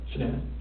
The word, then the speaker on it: Shannan: And I don't want to mispronounce her name wrong, Shannan? Shannan.